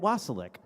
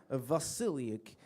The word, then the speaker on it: Vasiliuk: Next week we have featured artist Annette Wasilic. And I'm sorry, Annette Vasiliuk. She told me how to. She told me how to pronounce it.